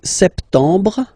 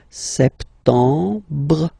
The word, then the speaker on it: septembre: So septembre. Remember this EM en septembre. You don't insist on the final septembre.